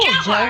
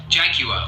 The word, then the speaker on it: Jaguar: Yes, it's a jaguar. Or we would say jaguar. You would say what? Jaguar. Jaguar. Like it's as if it's spelled Jaguar? like jaguar. We say jaguar. Jaguar, like 3 very defined syllables.